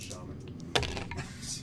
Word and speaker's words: shaman: You'll find it's pronounced Shaman.